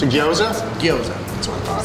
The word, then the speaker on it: gyoza: It's a gyoza? Gyoza. That's what I thought. Spell that, Michael.